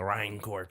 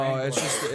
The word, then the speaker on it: Rancor: Also That's- the Rhinecor pit. Yeah, that's what I. Well, Oh, it's no, Rancor.